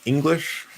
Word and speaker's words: English: up on it but i've noticed some american english teachers pronouncing the word english with e and i'm just like why why are you that's not how you say the word so i don't